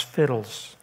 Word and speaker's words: FHIDLS: I use that acrostic FHIDLS, which I pronounce fiddles.